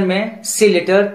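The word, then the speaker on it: muscle: इन तीनों में देखिए एस के बाद सी आया है, इस कंडीशन में भी सी साइलेंट रहता है.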